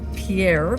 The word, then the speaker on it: Pierre: Riverview RV Park in Pierre pronounced by people here as Pier South Dakota uh and